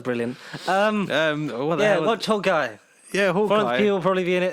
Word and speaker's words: Florence Pugh: There's no sign of Florence Pow. Yeah, Florence Pow. I heard someone mentioned it. So Florence Pow. Wow. Florence Pugh. How could it be that wrong pronouncing the name?